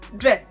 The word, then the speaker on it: džep: And Croatian word is džep. It is pocket, and it is like J in the job.